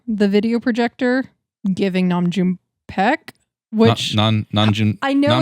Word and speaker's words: Nam June Paik: And well, we're going to have to double check, but I'm like 100% certain it's Nam June Paik.